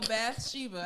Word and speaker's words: Bathsheba: So Bathsheba, I had to look it up to say it correctly.